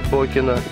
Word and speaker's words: Бокино: С этого времени поселение стали называть Бойкино по характеру его жителей. Позже в написании и произношении исчезла буква «и» краткая, и получилось Бокино.